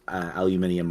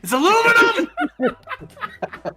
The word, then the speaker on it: aluminum: I presume that Quebecois French speakers, like, you know, also pronounce aluminium wrong. So it's aluminum.